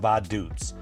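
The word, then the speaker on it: Vaduz: And we drive to the capital of Lithanstein, which is pronounced Badoots.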